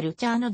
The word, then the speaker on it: ルチアーノ: も手掛けている発音に近いのはルチャーのだが日本語ではルチアーノと書かれることが多いジュリアード音楽院教授